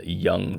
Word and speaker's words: Jung: Um, Young with a Y. Is I've never knew. Is that how you pronounce his name? Yeah. Is Young, not Jung.